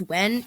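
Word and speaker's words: Nguyen: we have Kim Wen I know it's spelled like nayugen but I had a math teacher whose last name was like this and it's actually pronounced when if I'm incorrect let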